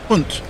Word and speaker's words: Pant: Uh uh Ray Perodin says, "Uh, better as good a commentator as you are, can you pronounce Rishab as punt rather than pant as in trousers?